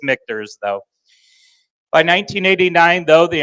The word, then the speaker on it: Michter's: make mters okay H I've heard it just kind of like Louisville can be said seven different ways MERS I've heard many different uh pronunciation so it is mters though by 1989 though